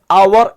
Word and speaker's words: hour: HOUR നമ്മൾ വായിക്കാറുള്ളത് അവർ എന്നാണ്. H silent ആണ് അല്ലെ.